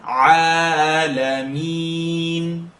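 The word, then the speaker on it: العالمين: Now please make sure when you say Alameen, don't press it. Don't push it. I want you to lift it. Say Rabbil lift it up. Alameen.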